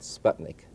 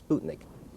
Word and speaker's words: Sputnik: And incidentally, it should be properly pronounced Sputnik and not Sputnik, as I tell my students.